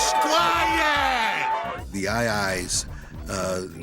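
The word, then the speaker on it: aye-aye: The II's uh pronounced I I but spelled a ye a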